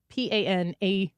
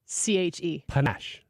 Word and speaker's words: panache: do you say it what was the word again p-a-n-a-c-h-e hanash Brad I thought it was panache Panache yeah yes the